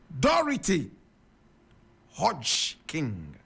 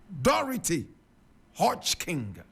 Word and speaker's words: Dorothy Hodgkin: today this is the woman we're talking about dority hod King dority Hodge King my God and dority is spelled D o r o t h y